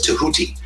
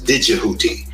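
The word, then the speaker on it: Tehuti: His name is I prefer to pronounce it as Tahuti, but some people pronounce it as Didgehuti, with a DJ rather than just T-E-H, Huti, U-T-I. Some pronounce it as DJ, E-H-U-T-I.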